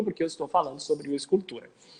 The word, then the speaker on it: ius culturae: Eu falo ius culturae, pessoal, mas pode falar ius culturae, porque é uma pronúncia ao latim eclesiástico, ius culturae, e o ius culturae é o latim, digamos, reformado da época romana, tá?